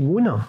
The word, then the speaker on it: Mu:n: lune à ce moment-là alors on dit Moon c'est ça dis-moi mais ça s'écrit mu quoi c'est la prononciation phonétique de Moon donc en phonétique internationale